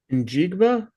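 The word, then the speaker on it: Njigba: Jackson Smith, uh, actually, Jacob, can you can you pronounce um this player's name here for me? Jacob and Jigba.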